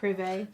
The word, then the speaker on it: Privé: Privé. Privé.